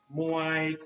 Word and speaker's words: Muay: remember right now but correct pronunciation of thai boxing is a soft sound muay all right now